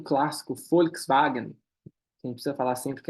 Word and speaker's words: Volkswagen: uma empresa nazista mas FK é povo e tem o som de F né povo EAG significa carro tem o som de v ali o w wagen duas palavras para carro